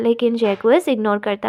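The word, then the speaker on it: Jaques: और कंप्लेन करता है जैक्विस, अगर म्यूज़िकल हो गया तो दुनिया में जल्दी ही डिस्कॉर्ड आ जाएगी। फिर तभी जैक्विस, वो प्रोनाउंस्ड कि जे क्यूज ऐसे प्रोनाउंस होता है ये, यहाँ आ जाता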